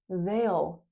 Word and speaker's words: they'll: They will they'll veil sail.